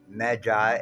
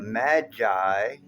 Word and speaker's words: Magi: your spiritual p and the Magi or midi as I pronounce it and I'm going to